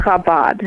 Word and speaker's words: Chabad: if you if you if you pronounce it like Chabad they're gonna know you're not Jewish because it's kabad I do do they